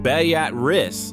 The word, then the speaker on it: Beatrice: Beatrice, Nebraska, pronounced Bay-at-rist, not like the name, has a population of